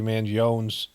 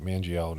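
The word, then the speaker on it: Mangione: police looking at Luigi manon's I don't think they pronounce the E mangon is probably how they say it medical history as an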